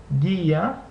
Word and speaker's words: guía: In the configuration ku ue or he ue, the U is not pronounced, and only the second vowel is pronounced.